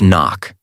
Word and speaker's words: NOC: NOC pronounced knock.